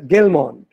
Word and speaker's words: Gell-Mann: But this letter is pronounced H in Ukrainian, but G in Russian. Now, Russia had conquered, invaded, and occupied Ukraine for centuries during the Middle Ages. So during this time, the name, they began to pronounce it as Gell-Mann.